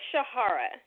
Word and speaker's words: Shahara: It's Shahara.